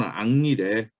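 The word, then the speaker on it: Henri: 그래서 이게 불어는 앙리래. 근데 H가 히읗 발음이 안 난다는 얘기겠지 뭐.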